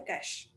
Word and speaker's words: cache: It's also written sometimes as dollar to represent cash because that's how it's pronounced. So cache is nothing but a small fast onchip memory.